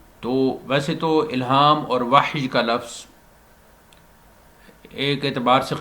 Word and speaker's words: وحی: ہے۔ وحی کا تعلق وحی، جس کو ہم اردو بولنے والے وحی کہہ دیتے ہیں، وحی اس کا تلفظ ہے، جیسا کہ قرآن مجید میں فرمایا ان هو الا وحی یوحی، تو وحی اس کا تلفظ ہے۔ وحی انبیاء کے ساتھ